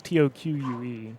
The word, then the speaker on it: toque: tooth that's what we learned from Canada a toque a tooth that's her that's your like skull captor beanie how do you spell that tou I think it's T o qu e oh is that what you qu Yin it's